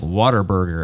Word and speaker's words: Whataburger: they don't say it they don't even say it right yeah I went to Corpus Christi where it was uh originated and they say they call it Like Water Burger yeah and I look